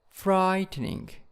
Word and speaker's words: frightening: and scary scary and frightening frightening in the first syllables and moving in the